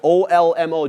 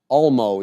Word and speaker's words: Olmo: second half, and it was that Olmo guy, O-L-M-O. Don't know how to say his name. Not really sure how to... Olmo, yeah, Olmo.